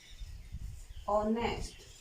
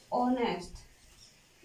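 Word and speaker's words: honest: Sound letter consonant और sound wall, जैसे ऑनेस्ट। यहाँ पर एच साइलेंट है, ओ का उच्चारण हो रहा है, इसलिए ऑनेस्ट।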